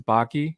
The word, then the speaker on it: Bakke: well as the bakke in the house thank you so much for joining my friend uh by the way i like that your last name is baki because it rhymes with taki and there's some of